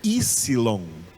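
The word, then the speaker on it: ύψιλον: Nós estamos acostumados em português a dizer Y, mas essa é uma letra grega e em grego esse P não é pronunciado, é Ypsilon. Ypsilon.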